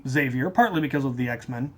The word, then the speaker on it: Xavier: name is cool um the French pronunciation is actually zavier and I have friends